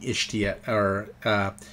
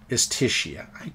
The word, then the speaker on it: Istishia: I'm making Ishtia, Istishia. I mispronounced that horribly.